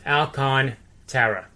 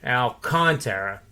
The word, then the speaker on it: Alcantara: Actually, it's AL-KON, all capitals. That would be the enunciation where you put emphasis on that. Alcantara.